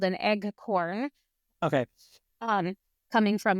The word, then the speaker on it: eggcorn: It's actually called an eggcorn. Eggcorn? An eggcorn, which is like a mispronounced version of acorn.